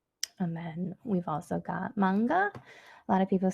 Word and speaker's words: manga: ah nee MIT and then we've also got manga a lot of people say manka but we know that it is manga because